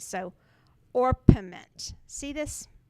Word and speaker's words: orpiment: It's orpiment. Now, I did look up the pronunciation of this, and it's pronounced, everybody pronounces it different ways. So, orpiment.